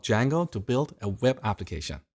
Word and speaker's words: Django: So, it's spelled with a silent D and it's pronounced Django.